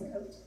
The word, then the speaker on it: Côte: yes, and it came through France, Côte France. Fun You fact. saying it right? Côte de France. Well, here, I'll show you. C-O-T-E is Côte. Côte, yeah, with that little thing on the top.